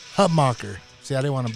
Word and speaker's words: Hutmacher: clay how do you say your last name hutbacher hub mocker see i didn't want to butcher it i